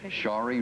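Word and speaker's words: Sharie: to do my best to say it right shie that's perfect that I do them both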